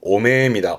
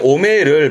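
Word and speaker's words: 汚名: 이름이 더러워진, 발음은 오메입니다. 오메. 오명의 오메를 많이 쓰게 되는 게 오명을 씻다 그러는데요.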